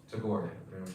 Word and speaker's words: Tagore: How do you pronounce his last name? Anybody know? Tagore.